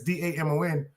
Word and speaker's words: Damon: So the A is silent. That's why my name is Damon. It's a French name.